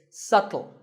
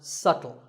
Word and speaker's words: subtle: you say it it's subtle the B is silent subtle means something that is difficult to notice or something that isn't obvious and once again the word is pronounced subtle another popular word with